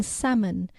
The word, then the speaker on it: salmon: spelling should reflect Latin, so they added the silent B in debt and doubt, and a silent P in receipt, and a silent L in salmon to reflect their Latin roots.